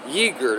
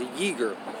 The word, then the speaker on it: Uyghur: Xinjiang and a region in western China home to beleaguered Uyghur Muslim people. Uyghur, that's how it says it's pronounced, Uyghur.